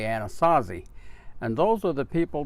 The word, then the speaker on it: Anasazi: the name originally and those people we refer to as a non saucer or with the english-speaking tongue you would say Anasazi and those are the